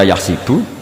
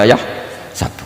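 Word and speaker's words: يَحْسَبُ: Karena dalam qiraah sab'ah ada yang baca yahsibu, qiraah kita baca yahsabu. Tapi guru-guru kita kalau ngajar fikih itu bacanya yahsibu. Tapi kalau baca Quran yahsabu. Ya kan Quran kita kan ayahsabu Allah yaqdiru alaihi ahad, bukan dibaca ayahsibu.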